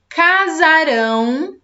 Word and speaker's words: casarão: Aqui embaixo, Pedro e Maria casarão amanhã. Perceberam a diferença da pronúncia? Então, casaram ontem. Casarão amanhã.